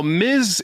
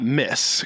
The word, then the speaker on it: Ms: on her own now Miz is not Miss cuz Miz can mean that you're married so technically I think she's always been a Miz not a miss or a mes because it was empowering